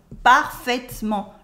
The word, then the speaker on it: parfaitement: We never say parfaitement. We cut the E in the middle and it becomes parfaitement.